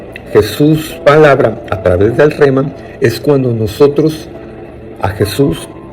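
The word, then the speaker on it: rhema: una palabra griega que se escribe con las letras r r h e m a rema como si fuera de remar pero sin r y después de la r va una H rema esta Jesús palabra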